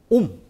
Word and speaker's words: 옴: 요렇게 표시하 예 그리고 읽을 때는 뭐라고 읽어요 옴 뭐라고 된다 옴 오케이